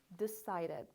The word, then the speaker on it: decided: if your word ends with T or D, you're going to make sure to make that ed sound. So for example, this is wanted, this is started, this is needed, and this is decided.